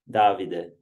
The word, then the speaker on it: Davide: Davide.